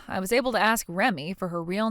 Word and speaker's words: Remy: that as or do you read that as Remy huh You're supposed to read that as re Remy Remy so your name is Remy it's spelled REM but you read it like Remy are you not able